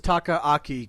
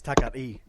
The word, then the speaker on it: Takaaki: I thought it was Takaaki Kidani, but no, June came on and said no, it's Takari. So apparently the second K is silent.